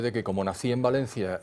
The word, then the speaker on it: Valencia: Antes se hablaba de Valencia, no hacía falta el acento por ninguna parte porque tiene acento tónico, ahora ya no sé cómo se dice, pero Valencia está acentuado en la E.